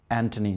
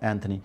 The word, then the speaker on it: Anthony: And Thomas is usually pronounced as Thomas. It should be Thomas, like we just mentioned, Anthony, not Anthony.